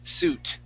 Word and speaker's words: suit: Three-piece suit. Three-piece suit. Okay, pronounce a T at the end, okay, on suit, okay?